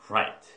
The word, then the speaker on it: right: 라이트가 아니라 right.